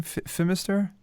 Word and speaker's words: Fimister: How does he say his name? Fimister? Yes, that's right.